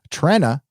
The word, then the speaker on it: Trenna: Trenna is pronounced like Trend.